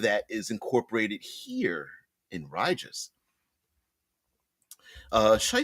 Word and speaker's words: Rigus: But when the train lets us off, we're going to get off at RIGUS, R-I-G-U-S. I like pronouncing it RIGUS.